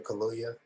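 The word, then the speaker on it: Kaluuya: with daniel i can't remember how do you pronounce his last name daniel kaluya yeah cool did you i mean i know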